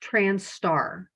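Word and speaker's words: trans*: you'll sometimes see um the trans asterisk it's pronounced trans star the trans star community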